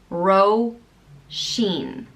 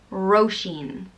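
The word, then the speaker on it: Róisín: is Roshan and it means little rose it's pronounced ro Xin ro Xin it's spelled ro i SI n and there's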